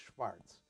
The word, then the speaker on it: Schwarz: and Rachel or Raquel Schwarz pronounced Schwartz uh coming from Santa